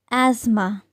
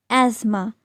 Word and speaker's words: asthma: Let me tell you, it's asthma. Asthma.